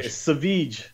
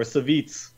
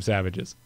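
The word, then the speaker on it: Savjz: sorry, Saveech or Saveets.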